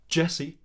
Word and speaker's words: DJESSE: for download the tickets is Jessie pronounced Jessie all capital letters DJ esse which incidentally is a